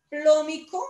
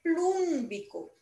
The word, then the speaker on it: plúmbico: No se dice plómico, sino se dice plúmbico. Tiene la raíz plum.